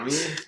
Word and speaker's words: Mami: Mommy? Sorry. Mami? Mami? Yeah, it's Mami. I'm like, as you're laughing at me, I'm like, am I saying it wrong? Mami?